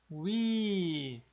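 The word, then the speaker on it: 위: É a vogal composta wi, wi, né? U mais I exatamente igual aqui fica wi.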